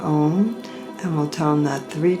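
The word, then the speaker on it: ॐ: So we'll close with the, um, one syllable mantra for the crown chakra by toning om for that is it's one syllable Sanskrit mantra om.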